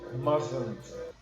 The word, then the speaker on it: mustn't: So, guys, the word is mustn't. Mustn't. It's like the T is silent, okay?